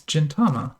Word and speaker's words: Gintama: grab another pack so this is Gintama which is the soft G uh Gintama is a